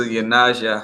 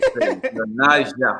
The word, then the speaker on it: YoNasDa: Oh, Sister YoNasDa, ha. Did I say it right? Yes, you did. YoNasDa, ha.